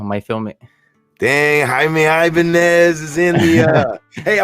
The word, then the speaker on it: Ibanez: So, I'm a guitarist and there's a guitar brand and it's called Ibanez and that's how you pronounce it.